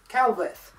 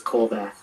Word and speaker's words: Colvath: i thank god that right written by matthew calvis thought i mispronounced your name that's all right you actually got correctly um the last name is colback all right hello everybody so first of all